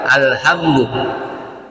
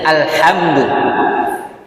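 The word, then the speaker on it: الحمد: salah satu rukun salat bacanya alhamdu pakai ha kecil dia ha kalau pakai ha besar alhamdu itu beda artinya alhamdu Segala Pujian lillah Li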